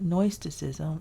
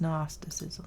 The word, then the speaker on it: gnosticism: tracy all right gnosticism it's not noisticism it's gnosticism there we go that's spelled